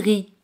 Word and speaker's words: riz: Por ejemplo, arroz, le riz. Le riz. Le riz. Z al final no se pronuncia.